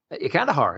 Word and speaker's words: Kandahar: I don't know how you pronounce it. Kandahar. Kandahar.